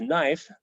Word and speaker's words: knife: For example, we have Kanifa, which we now know as knife, and that's because the original K got left off and the final vowel got left off, and we pronounce the middle 3 now.